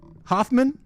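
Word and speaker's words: Hofmann: uh by some scientists okay it's a Albert Hoffmann Hoffman no it's actually pronounced Hoffman he's a Swiss guy I believe yeah Swiss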